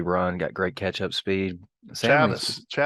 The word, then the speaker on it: Chavis: Chavis. Yeah, Chavis. We learned to say it right.